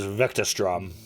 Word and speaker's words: Vectastrom: Oh, it's like it's spelled.